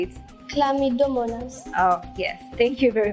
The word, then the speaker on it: Chlamydomonas: Please help me pronounce that word. How do you say it? Chlamydomonas.